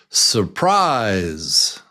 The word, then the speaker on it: surprise: Surprise, surprise. How many syllables? And what's the strong syllable? Surprise, surprise, surprise. Do you hear it? Yeah, it's number 2.